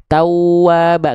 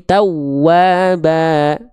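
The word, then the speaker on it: تَوَّابًا: Jadi bukan dibaca ditekan biasa tawwaba enggak. Tapi tawwaba ya.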